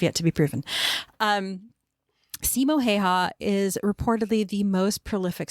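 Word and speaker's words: Simo Häyhä: ghost and I cannot I think his his name is pronounced Simo heha I think that's how it was pronounced but again I cannot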